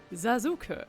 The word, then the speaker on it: Sasuke: So, um, I've known this character for most of my life, not as Saskuke, but as Zazuka, which is how you pronounce his name in German.